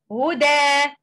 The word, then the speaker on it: هدى: And we recite the word as lengthening mad with two count, two vowel count. Huda, huda, like that.